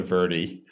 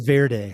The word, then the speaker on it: Verde: I want to make sure I'm pronouncing it correctly. Verde, the Verde River. We actually in Arizona it's actually called the Verie. Very close. It's not the problem. It's not it's not Verde like I learned.